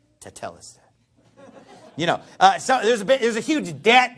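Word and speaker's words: τετέλεσται: So I've heard these sermons where they say, well, if you go back to the Greek, the word is tetelestai. Now, I'm actually pronouncing it right.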